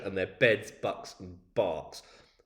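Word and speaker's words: Berks: their beds bucks and Barks spelled Burks pronounced barks because you know we like to make like we might like to make life difficult for our visitors rest quickly after a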